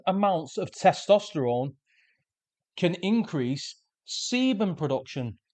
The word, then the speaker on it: sebum: of testosterone can increase sebum production. Let me spell that. S E B U M. Sebum, not semen.